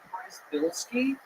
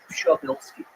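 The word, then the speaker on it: Przybylski: So the American version is Prizebilski, but I've been trying to get in touch with my roots, and the Polish pronunciation is Shabilski.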